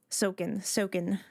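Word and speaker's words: Soken: It's a no sound if you're following Japanese syllables. Alrighty. Sokin.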